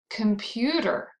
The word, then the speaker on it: computer: Computer. This word has three syllables. Can you find the stressed syllable in computer? Computer. Computer. That's right, it's the second syllable, the middle syllable.